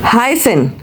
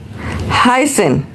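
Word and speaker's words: heißen: सो फॉर इआई we have a I sound. That is हाइसन हाईसन meaning is टू बी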